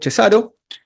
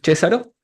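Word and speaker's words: Cesàro: Bueno, vamos a hablar un poco del operador de Cesaro, que estuvimos confirmando que se pronuncia así. No es Cesaro.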